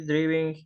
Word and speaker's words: driving: Was he driving his car yesterday? Was he driving? Driving. Driving. ¿Por qué? Porque la I se pronuncia como AI.